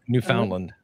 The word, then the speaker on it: Newfoundland: Or is it Newfoundland?